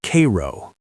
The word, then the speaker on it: Cairo: At the very tip of Illinois, where the Ohio River meets the Mississippi, sits Cairo, pronounced Cairo by those who still call it home.